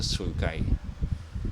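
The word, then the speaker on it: sulci: go back to the primary sources it's really pronounced the sukai and we see that when we're describing something on Imaging like x uh CT scanner MRI when we talk about the sukai they are obliterated or if they are absent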